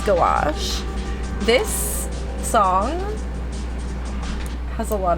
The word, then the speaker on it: gouache: Okay, I always said it as like gauche, and then I was like, there's too many vowels in it for that. It probably is gouache.